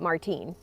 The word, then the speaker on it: Martin: name lopez okay and it's spelled uh martin but you say it martine okay and it's called